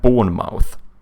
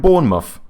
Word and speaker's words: Bournemouth: would like to say something like born mouth right no this is going to be like Bournemouth isn't it this is like Bournemouth